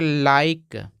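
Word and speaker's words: like: के ई यहां पर अगर आई के जस्ट बाद एक कंसोनेंट हो और कंसोनेंट के बाद जस्ट तुरंत एक ठ वावेल आ जाए तो इस आई को आई ही पढ़ते हैं तो इसको पढ़ेंगे लाइक लाइक और लाइक का मतलब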